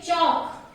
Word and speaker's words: chalk: Then chalk. Chalk. Here L is silent.